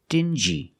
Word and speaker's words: dingy: example dingy and stingy these two words have the regular n Sound n plus the J like juice together sting G together stingy or d g together dingi this wall is very